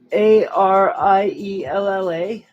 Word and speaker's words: Ariella: god damn it spella a r i e l l a how am i am i mispronouncing this so air e ella ariella so such it's